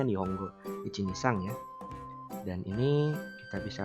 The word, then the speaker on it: Nihongo 123: Akan mengenalkan salah satu website pembelajaran bahasa Jepang yang bernama Nihongo 123 atau mungkin secara pelafalan itu sebenarnya Nihongo Ichinisang ya.